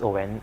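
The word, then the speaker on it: Oein: Yeah, it's it's O E I N pronounced as Oen.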